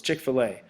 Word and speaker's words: Chick-fil-A: So there's a few of them in Minnesota, so it's Chick-fil-A.